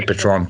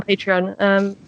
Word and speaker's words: Patreon: I always say Patron, and I get it wrong. Yeah, on Patreon.